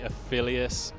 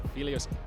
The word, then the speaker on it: Aphelios: You can be very aggressive, and Aphelios, fantastic. Or Aphelios, I think, is the correct pronunciation. I keep saying it wrong, I think, but I'm excited to see that because he's got a lot of follow.